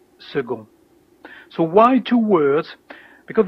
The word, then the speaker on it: second: And here, second, the C is like a G, second.